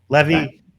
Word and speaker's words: Levy: Levy rhymes with Chevy.